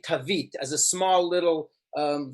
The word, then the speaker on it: Tav: Tav, that's how you spell it.